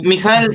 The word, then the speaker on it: Mijael: Mijael con J como suena, así, seco.